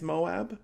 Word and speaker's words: Moab: hiking down in Moab which I'm cautiously pronouncing as Moab it's m-o-a-b but I've really never